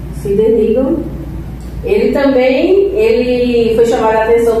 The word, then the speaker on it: Sidney Rigdon: E ainda Sidney Rigdon, é a pronúncia, Sidney Rigdon, ele foi chamado a atenção pelo Senhor.